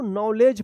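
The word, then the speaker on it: knowledge: इसमें देखिए डी और जी है तो इसका उच्चारण ज होगा तो क्या पढ़ेंगे इसको नॉलेज पढ़ेंगे क्या पढ़ेंगे नॉलेज नॉलेज के एन ओ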